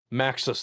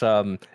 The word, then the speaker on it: Muxas: For Kayla taking notes, I did kind of mispronounce that. It's Muxas, the Stone Tyrant.